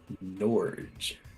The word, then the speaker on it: Norge: n o r j Norge like George but Norge all right everybody everybody ready